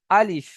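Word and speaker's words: ا: 18 নম্বর মাখরাজ একটাই বাকি আছে, সেটা হলো আলিফ।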